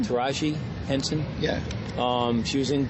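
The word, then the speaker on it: Taraji Henson: Taj Henson yes she's how you pronounce her name taji Henson yeah um she was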